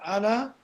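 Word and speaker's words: على: Ala, harful jar, ala plus damir kum. Damir kum. This is damir al-jam' al-mukhatabin. Al-mukhatabin. Ala and kum. And this alif, which is pronounced ala, but it's written like a ya, it turns into a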